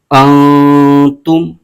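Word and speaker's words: أنتم: ہجے یوں کریں گے، حمزہ نون زبر ان، تا میم پیش تم، انتم، اس کے آگے تا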